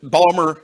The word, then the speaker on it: Baltimore: And just a bit of Maryland trivia is it Balmer is how you pronounce Baltimore if you live there.